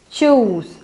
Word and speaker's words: choose: Then it pronounced like chos, chos, chos, choose.